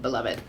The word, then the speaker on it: Beloved: And then last night I started Beloved, and it is actually pronounced Beloved because I'm listening to audiobook, and it is narrated by Toni Morrison, and so she pronounces it Beloved.